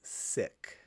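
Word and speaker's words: Sikh: I believe it's pronounced sick. Really? I've always heard it seek from my seek friends, but that's what I've heard.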